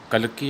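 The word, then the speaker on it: Kalki: Tiger king, it is written by कल्कि या काल्की, दोनों वर्ड आप यूज़ कर सकते हैं प्रोनाउंसिएशन.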